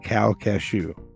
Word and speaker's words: Calcasieu: to Calcasieu Parish okay cow cashew see it sounds like it's spelled really different but it's c-a-l-c-a-s-i-e-u okay yes what is